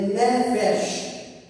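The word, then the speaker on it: nefesh: A TR no original a palavra alma é ne feche né diga comigo ne fech ne Fe se escreve el é com a c f e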